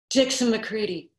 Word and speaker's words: McCready: Jesus, the way he said his own name should have tipped me off. Dixon McCready, rhymes with CD.